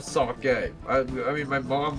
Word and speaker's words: sake: It's sake because e is an a sound in Japanese. I don't care. I pronounce stuff the way that I think it sounds better. So, I think Saki sounds better and I